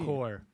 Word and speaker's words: corps: it's CORPS. Okay. No E. Core, but it's core, and it's a branch of the military Corpse.